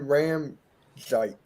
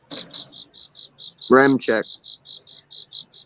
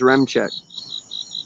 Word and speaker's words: Ramczyk: They got Trevor Penning, Andrus Pete, Eric McCoy, Cesar Ruiz, and Ryan Ramczyk. Yeah. Remchek. What? His last name's Remchek. Oh, I pronounced it wrong.